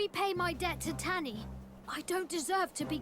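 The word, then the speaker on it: Tani: And it seems I've been pronouncing her name incorrectly this whole time, so it's Tanny, not Tawny.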